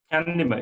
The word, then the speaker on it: Chandima: Chandima? Chandima, yes.